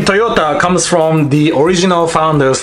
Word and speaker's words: Toyota: world not just Japan it is Toyota in Japanese is actually Toyota it goes down now the company name Toyota comes from the original